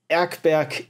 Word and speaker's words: Erkberg: Oh, it's German, so it's Erkberg and guckstift.